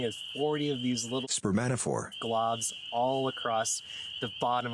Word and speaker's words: spermatophore: And once the females arrive, the males start to lay what's known as spermatophores. Whoa! Sorry to interrupt, it's just that I really mispronounced that word. It's actually spermatophore.